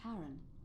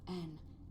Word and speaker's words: Charon: The name you heard wasn't Karen. It was Charon, as in Charon, the ferryman of the dead.